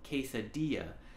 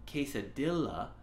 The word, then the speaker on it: quesadilla: and so it's pronounced quesadilla if you look at it it looks like it's pronounced quesadilla but those ELLs are silent quesadilla another word is